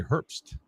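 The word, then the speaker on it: Herbst: Riley Herz there he is Riley how's he pronounced his last name herbs herst her Riley h e RB St T Herpst yep 36 my ninth pick all right all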